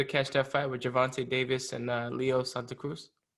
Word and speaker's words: Gervonta: Yeah, Gervonta Davis.